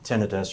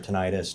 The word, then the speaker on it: tinnitus: a lot of people suffer from tinnitus or tinnitus, depending on how you want to pronounce it. I know there's a little bit of a controversy there. Sure.